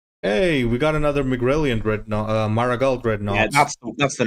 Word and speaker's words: Dreadnought: Also, Dreadnought is spelled Nought, not Naught. That is basically Dreadnought, as in he is not dreadful.